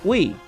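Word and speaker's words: oui: And we is, the last we is spelled O-U-I. French. We.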